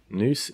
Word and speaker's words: nous: In everything, there is a portion of everything, except nous, and there are some things in which there is nous also. Nous is a word that comes up a lot